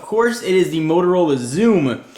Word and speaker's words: Xoom: it is the Motorola Zoom spelled with an X don't confuse that with a z the way you'd expect to spell it uh let's go ahead